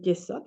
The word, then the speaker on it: Yesod: No puede haber esa unificación en el Yesod, así se pronuncia.